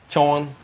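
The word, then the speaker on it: Chaun: It is Sean. Chawn. C-H-A-U-N, if you want to spell it.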